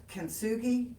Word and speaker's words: kintsugi: So we're going to do the kintsugi class. That's kintsugi. Kintsugi. It's Kintsugi. Okay, So- I didn't spell that at all Well, that's correctly.